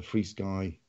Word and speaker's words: FrSky: And then when we talked about it, you kind of explained some of the hardware that the FrSky or FR-Sky, depending on how you want to say it, and you can